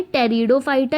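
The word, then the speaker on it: Pteridophyta: First है थैलोफाइटा, दूसरा है ब्रायोफाइटा, तीसरा है टेरिडोफाइटा, इसमें बेटा पी साइलेंट है, चौथा है जिम्नोस्पर्म एंड फिफ्थ है एंजियोस्पर्म।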